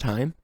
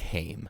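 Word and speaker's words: Haim: two openers oh yeah that's pronounced time yeah I think I always looked at his like hame no time no time because it is an a right yeah um did I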